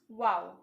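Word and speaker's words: و: wings are similar to an arabic letter pronounced wow this kite making traditions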